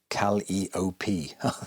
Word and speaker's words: Calliope: Pronounced Calliope.